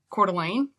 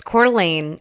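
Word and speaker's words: Coeur d'Alene: But, uh, I grew up in a town called Cordelane, which is I mean like people have a really hard time spelling it.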